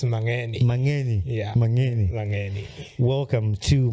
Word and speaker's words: Mangeni: Is that how you pronounce it now? Mangeni? It's Mangeni.